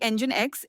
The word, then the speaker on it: NGINX: Pronounced like NGINX, NGINX is a newer web server that was designed to handle high traffic and heavy loads efficiently.